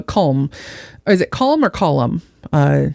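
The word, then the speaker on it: Colm: his buddy uh colem is it colum or column uh it's spelled colem but it's pronounced column which again is far more ridiculous than this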